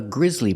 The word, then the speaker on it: grizzly: bear is called a grizzly bear it's spelled differently but it's pronounced exactly the same as the word grizzly meaning something causing a horror